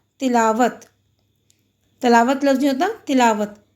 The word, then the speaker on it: تلاوت: تلاوت لفظ نہیں ہوتا، تلاوت۔ تے کے نیچے زیر، لام پہ زبر، الف ساکن ہے، واو پہ زبر اور تے ساکن۔